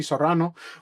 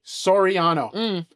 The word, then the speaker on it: Soraniano: They call him Jesse Sorrano, but it's Jesse Soraniano, one of my most amazing friends and one of the first people I ever met doing comedy.